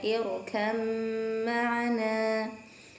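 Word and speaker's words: ٱرْكَب مَّعَنَا: Yang selanjutnya adalah lafaz irkab ma'ana, dibacanya irkam ma'ana, irkam ma'ana.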